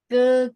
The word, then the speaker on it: 哥: Ke. Jadi ke-nya bersih, nggak pakai k ya.